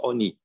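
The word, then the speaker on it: עני: Alors, on s'est écrit avec un vav, c'est écrit sans vav. Lechem Oni, on le prononce Oni.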